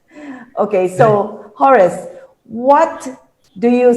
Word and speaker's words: Horace: Some pronounce it as Horus. Okay, so Horace, what do you say to our smallholder farmers who cannot afford an Oggun tractor?